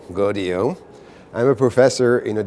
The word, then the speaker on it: Gaudiot: You pronounce it like rodeo, GAUDIOT.